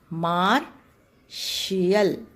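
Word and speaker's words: martial: Okay, यहाँ पर आपका ट यहाँ IA आने की वजह से इसका प्रोनाउंसिएशन श होता है, मार्शियल।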